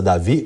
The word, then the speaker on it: Davi: David, só que é Davi, com o D mudo.